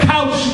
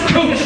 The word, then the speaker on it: Couch: It is Cooch. It is pronounced Cooch.